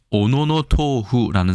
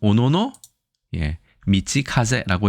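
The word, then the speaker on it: 小野道風: 오노노 토후 혹은 오노노 미치카제라고 얘기하는데 만약에 토후라고 읽었다면 이것은 음독을 한 것입니다. 동풍을 중국어 가깝게 읽기 위해서 토후라고 읽은 거고요. 물론 동풍과 좀 다르지만요. 도풍이죠. 죄송합니다. 도풍. 따오펑. 하지만 이것을 만약에 훈독 그러니까 뜻으로 읽으면 미치 길이라는 뜻이고 가제 바람이라는 뜻입니다. 일본은 이렇게 음독과 훈독이 나뉘어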